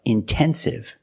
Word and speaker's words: intensive: Or words like intensive, intoxicated. We have the stress after the NT. We pronounce the T like a pure T.